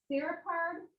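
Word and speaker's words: serpopard: This is called a, let me see, make sure I say it right, a serapard.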